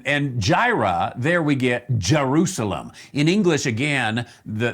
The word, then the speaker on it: Jerusalem: jira there we get jerusalem in english again the the hebrew people would say yerushalayim we would say jerusalem so the english has